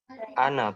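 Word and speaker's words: أنا: Ana itu Mas Jama, na-nya kan panjang ya di situ ya. Ya. Nih, na-nya panjang. Tapi pada hakikatnya kalau nanti teman-teman cari ya di Quran gitu ya, ada kata anak, di atasnya itu ada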